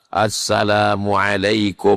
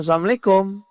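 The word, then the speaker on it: السلام عليكم: Assalamualaikum warahmatullahi wabarakatuh. Tapi mengucapkannya betul. Ini banyak sekarang orang Islam nih tak betul. Ee asalamualaikum AS w RWB. Asalamualaikum.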